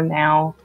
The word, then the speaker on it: Nao: It's kind of actually exciting that I'm the first for the Neo, or Now. I just pronounce it Neo, but actually, it's kind of exciting.